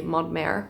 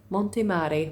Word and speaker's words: Montemare: I feel like usually we'd be pronouncing it in French and say Montmare, but it's Montemare, which is basically a mountain by the sea, mountain sea.